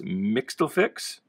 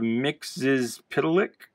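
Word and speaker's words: Mxyzptlk: As a kid, I pronounced this Mixtlefix, even though there's no F in there.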